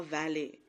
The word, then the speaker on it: valet: She entered followed by a valet. T is silent. A valet is like an assistant.